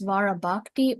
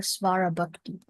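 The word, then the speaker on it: svarabhakti: So it is svarabakti or sarabakti.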